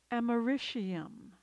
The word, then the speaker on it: americium: It's often pronounced fluorine, but I believe the preferred pronunciation is fluorine. Americium, americium.